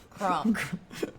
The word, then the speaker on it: Crump: Rhymes with Trump. What's his name? Crump. Fucking Crump.